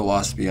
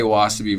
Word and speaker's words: wasabi: But then when you don't put the accent on the second syllable.